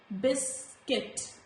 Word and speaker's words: biscuit: So biscuit, guard. There is no sound of letter U.